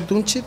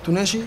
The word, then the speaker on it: Tunechi: Entonces yo por eso le quise poner el kit de Tuneshi, se pronuncia Tunchi, pero yo lo quise decir en español que es Tuneshi y le agregué el kit.